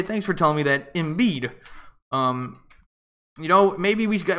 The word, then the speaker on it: Embiid: It's pronounced Embiid. Oh, not Embiid. It's Embiid.